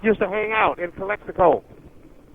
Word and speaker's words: Calexico: all over the state Kelly Beckford how you pronounce that Calexico Calexico uh-huh Calexico that's close to the base uh